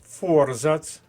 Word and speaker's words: форзац: наголос на першому складі подруга наголос на першому складі форзац перший склад Царина Зверніть увагу на